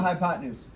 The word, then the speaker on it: hypotenuse: the word use u-s-e everybody say hypo ten used that's how you spell it but that's not how we're going to say it you're going to say hypotenuse say it again hypotenuse have you heard that